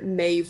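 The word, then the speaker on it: Meadhbh: Over here, Maeve would be spelt like M-A-E-D-B-H. There's a lot of like D-B-H's in Irish that are pronounced just V.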